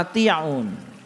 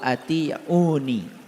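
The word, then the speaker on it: أطيعونِ: Fattaqullaha wa ati'un. Nah ini sebetulnya dibacanya harusnya fattaqullaha wa ati'uni. Dibacanya harusnya begitu.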